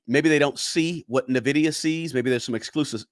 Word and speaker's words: Nvidia: mamb said it uh let's see here it's pronounced Nvidia yeah uh also crypto AI also there uh